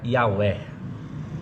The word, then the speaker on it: Yahweh: A pronúncia mais próxima do original assim seria Yahweh.